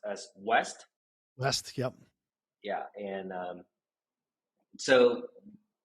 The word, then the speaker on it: W3ST: So first of all, it's pronounced as "wEst."